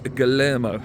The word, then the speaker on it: Guilherme: tweet saying that, and this is how you pronounce it apparently, I looked it up on Google, Luis Guillermo, there we go, Luis Guillermo, or Guilherme, is very, very close now.